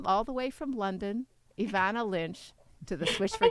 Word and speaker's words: Evanna: Well, people just don't pronounce the E. They say Evanna, but you just said it perfectly.